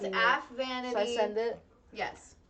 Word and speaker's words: Aphvanity: Altogether it's pronounced AFVanity.